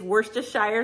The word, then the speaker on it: Worcestershire: Dijon mustard, butter, onion powder, Worcestershire, it's Worcestershire sauce. I always say it wrong.